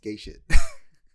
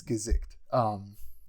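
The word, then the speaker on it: Gesicht: It stars Gazikt. It's not pronounced gay shit. It's Gazikt.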